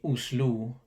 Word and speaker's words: Oslo: on to the o the o sound is a longer sound in norwegian so when i say the capital city of norway's oslo in norwegian you would say uslou it's a longer then